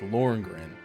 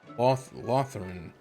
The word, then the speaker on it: Lothringen: Lord, I forget how they pronounce this. It's not how it looks. It's like Lothringen. Lothringen.